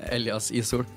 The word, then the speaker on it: Elias Ishoel: Yeah, Elias Ishoel.